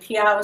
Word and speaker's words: Peyow: line with that and piago seemed kind of cool it rhymes with meow so we thought that